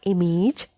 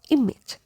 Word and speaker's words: image: But here, letter A doesn't have A sound. So the correct pronunciation of this word is not image, it's image. Image. So letter I also has I sound here, and letter A also has I sound like we have in.